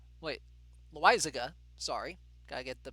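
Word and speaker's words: Loaisiga: i don't know about felix retreat against jonathan loy saga wait lizega sorry gotta get the pronunciation right that'll work sure uh let's see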